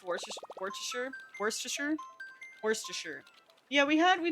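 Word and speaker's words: Worcester: Worster. Worster. Yeah, we had we talked about it on stream and the UK crowd said it's worster, I believe.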